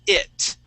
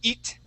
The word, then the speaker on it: it: you is the word it. Okay. Now here you had been using the a Portuguese I sound, saying eat. Okay. Remember, we want to use a short I and say it.